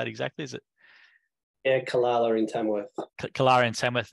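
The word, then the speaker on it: Calala: Yeah, Kalala in Tamworth.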